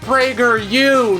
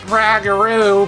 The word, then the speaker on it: PragerU: do you think commented is pronounced Prager you not ragaroo before we get into